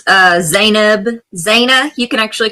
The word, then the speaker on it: Zeynab: It's uh Zanib. Zana. You can actually call me Zab for short if you want. Zanab. But how you pronounce it is Zanib.